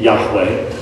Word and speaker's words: Yahweh: with the fact that it's better to say Yahweh that's much more likely the pronunciation of the Divine name the tetr Graton yod Wah in the Old Testament than Jehovah is but that's that's only